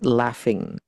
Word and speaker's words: laughing: Jadi gh-nya itu menjadi huruf F, Guys. Oke. Laughing.